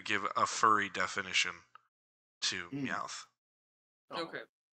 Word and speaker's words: Meowth: All right, we now move on from Christine's clearly favorite Pokemon, Doug Trio, and now move on to Meowth. Wait, how do you say that? Meowth.